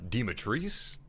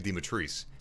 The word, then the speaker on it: Dimitrescu: that it's pronounced lady dematrice i'm going to be pronouncing it damotresk because that's how ethan in the game pronounces it but apparently uh to romanian people it should be pronounced uh dimitrescu so maybe ethan's getting